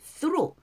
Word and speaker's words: through: 자, 발음이 through th 발음이에요.